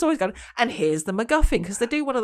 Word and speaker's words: MacGuffin: So what were we saying about, was it MacGuffin? Is that how you pronounce it?